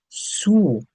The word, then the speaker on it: sous: And the next one, le chien est sous la chaise. The dog is under the chair. So, the pronunciation for this is sur, and here it's sous.